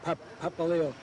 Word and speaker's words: Papaleo: well you know my name is papaleo p-a-p-a-l-e-o peppa leo and in school they call me pap papa papa nobody could pronounce the name and they called me